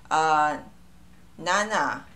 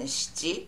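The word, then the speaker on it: 七: be yon or shi, nana and shichi, that's another number too.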